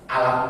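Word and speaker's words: ألم: Karena ada alif lam mim yang lain di surat Alam Nashrah, Alam Taro, itu bacanya bukan alif lam mim, tapi alam.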